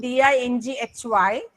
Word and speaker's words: dinghy: D-I-N-G-H-Y. This is pronounced as dinghy, which means a small boat. And there is one more word, dingy. If we pronounce this as dingy, the spelling becomes D-I-N-G-Y, dingy, which means something which is dull, okay, something which is not up to the mark. That is the meaning of the word dingy.